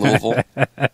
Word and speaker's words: Louisville: Because cans are in Louisville. And you got to say it like that. You got to go Louisville, right?